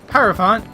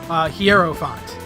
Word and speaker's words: Hierophant: one character had a stand that was named Hierophant Hierophant crane specifically that's Calculon and in the particular clip that I used do or the the English voice acting in it do pronounces Hierophant quiero font and to this day I still get people